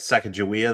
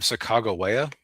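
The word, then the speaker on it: Sacagawea: Uh, funny thing is I I had a teacher once who was very clear once that you would actually pronounce her name Sak Chicagoa.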